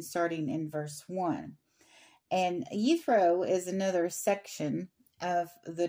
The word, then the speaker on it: Jethro: but in verse one the gentleman's name who is ethro is spelled Jethro but it's ethro so a little linguistic